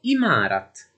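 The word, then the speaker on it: عمارت: Uno dei termini arabi che vogliono dire edificio è 3imâra, che è passato in urdu e viene pronunciato imârat e che significa sempre edificio e qui non notiamo alcun cambiamento.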